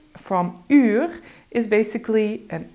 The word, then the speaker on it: uur: So the U sound from uur is basically an I, but then with rounded lips. I-u, u, uur.